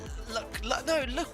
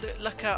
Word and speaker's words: Lukla: Lukla, not Lukla. Oh my goodness, Lukla. Is it actually pronounced Lukla?